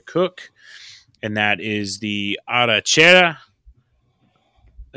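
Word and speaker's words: arrachera: And that is the arachera.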